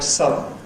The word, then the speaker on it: sudden: This is what happens in a word like “sudden” or “suddenly” .